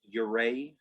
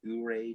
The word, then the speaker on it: Ouray: opening shot this is my mother's hometown it's pronounced yuray colorado not uray not ao ray it's it's called the switzerland of america and